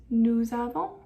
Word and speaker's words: nous avons: It sounds better that way, and it helps us understand what the subject is better if we pronounce that S. So it's nous avons, vous avez, ils ont, or elles ont.